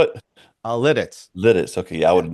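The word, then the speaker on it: Lititz: Lidditz.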